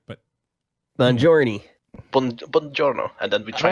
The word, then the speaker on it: buongiorno: Buongiorno or something like that. Well, right, but Buongiorno.